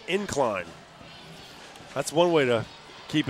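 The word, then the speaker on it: Ynclan: y n c l a an but it's pronounced incline that's one way to keep it up all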